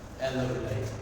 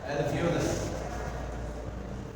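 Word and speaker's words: alveoli: एयर सैक, नहीं, एल्लोविलाई, ठीक है जी, एल्लोविलाई, ठीक हो गया। सॉरी, इसके स्पेलिंग में है वो एल्वियोलाई।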